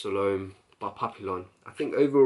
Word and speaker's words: Salome: very beautiful scent lush some loam or salom leave it's pronounced Salome by Papillon I think